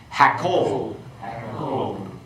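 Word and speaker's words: הַקּוֹל: Okay, let's go through and pronounce these and then give the translation. Okay? Hamelech, the king. Hakol, the voice.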